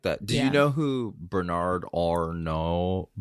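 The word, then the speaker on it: Arnault: do you know who Bernard Orno Bernard Arno I believe it's how you say his name no he's the head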